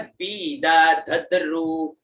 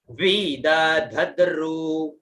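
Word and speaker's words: विदधद्रु: है ना, तस्य त्वष्टा, फिर बाद में आता है वीद धद्रु, तो डबल व है, छोटी ई की मात्रा, तो वीद, फिर धद्रु, ध और में छोटी बड़ी ऊ की मात्रा, ठीक है, उच्चारण हुआ वीद धद्रु, है ना, उच्चारण क्या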